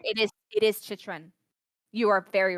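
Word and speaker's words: Chychrun: honestly, okay, you know, I'm usually good at pronouncing names, but this one has got me because he's a rookie. Shishran? Shishran? Oh my god. Jacob Shishran? Chitrin. Shishran? Chitrin? Chitrin. Yes, you're Chitrin? right. It is Chitrin.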